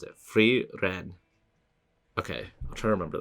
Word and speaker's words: Frieren: of weird oh fre Fen that's how you pronounce it freen okay I'll try to remember that the guy